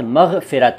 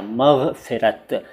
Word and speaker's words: मग़फ़िरत: चलता है ऊपर वाला, यानी पूरा ग और उसके नीचे नुक्ता और फ के नीचे नुक्ता, मग़फ़िरत।